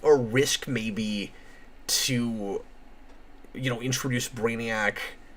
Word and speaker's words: Brainiac: Probably because his name is Brainiac. It rhymes with maniac.